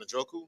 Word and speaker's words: Njoku: David Njoku. David Njoku.